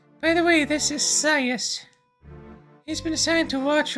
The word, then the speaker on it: Scias: Starting with an S and a C. Like I want to say it like scythe, like scias. That that is why I'm I'm going with that pronunciation.